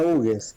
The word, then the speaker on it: Hugues: Colonia Hugues. Colonia Hugues. En realidad es francés, el apellido está mal puesto en la ruta, está con H, está en inglés, pero Luis Hugues, el que trazó la colonia, bueno, era francés.